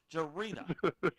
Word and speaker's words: Jarita: Yeah, you say it like this, Dennis. Follow what I'm saying. Jarita. Jarita.